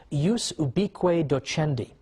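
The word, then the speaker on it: ius ubique docendi: was something called in in Latin and i'm using the church pronunciation use be queda chen d which literally means the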